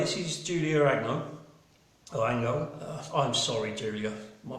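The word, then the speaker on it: Angot: This is Julia Agnot, A-N-G-O-T. She's a French painter, so I'm guessing it's Ango, I hope.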